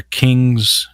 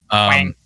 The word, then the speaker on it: Kueng: Quang. Yeah, Quang. I think it's pronounced King. At least that's what I've heard in the. That's what they've been pronouncing this.